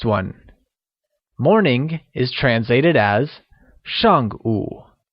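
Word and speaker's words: 上午: translated as Xiang ooh where shank meaning before is said with a falling tone and ooh meaning noon is said with a falling rising tone making it Xiang ooh or before noon here's a quick grammar tip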